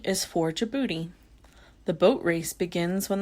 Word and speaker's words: Djibouti: D is for Djibouti.